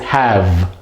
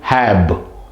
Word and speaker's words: have: to know that right so it's have it's pronounced as have have it's not hab it's not hab okay so like say that